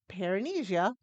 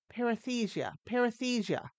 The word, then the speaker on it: paresthesia: And today we're going to talk about tingling extremities, understanding perine- perinesia in menopause. I know I'm still saying it wrong. Paresthesia in menopause.